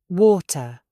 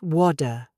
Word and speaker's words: water: Water. Not WADA.